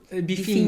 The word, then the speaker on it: bifinho: bifinho. Yeah. So it's Beefine. bifinho. It's like the diminutive.